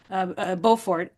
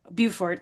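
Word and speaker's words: Beaufort: So Katherine of Aragon takes up that legacy of Margaret Bowfort Bufort depends you know if you pronounce it French English um and those those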